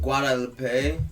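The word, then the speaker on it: Guadeloupe: Guadalupe. Guadalupe. Okay, I'mma say it again. Born in Guadalupe. Some of these words I've never said. Guadalupe. Guadalupe. Okay. Like Lupe Fiasco.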